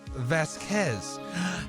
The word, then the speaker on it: Vasquez: sure don't quote me Vasquez is pronounced Vasquez thank you blue I was wondering myself since the name does originate from Spain Vasquez thank you thank